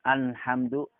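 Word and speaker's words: الحمد لله: jalalah terdapat pada selamat alhamdu lillah alhamdulillah harus dibaca ajalah dan dibaca bola juga tipis lham dulu alhamdulillah jangan sampai tertukar dengan nun alhamdulillah atau al jangan ditebalkan our harus dibaca ditipiskan alhamdulillah kemudian eh terdapat lagi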